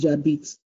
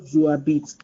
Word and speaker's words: j'habite: It becomes j'habite, not je habite. So it becomes j'habite en France. J'habite en France. So to make it negative, let's look at what happened here. To make it negative, look at the positive. The positive is j'habite en France because this H is a mute H.